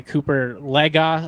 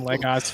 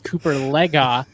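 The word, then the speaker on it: Cooper Legas: that but I mean to get torched by Cooper legga apparently is how you pronounce it I've been saying Legos for two years and so as every other broadcast I've ever heard but I guess it's Cooper Lega I gotta eat some Crow um because I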